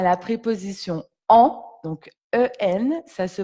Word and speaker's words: en: Aujourd'hui, nous allons nous intéresser à la préposition en, donc en, ça se prononce en.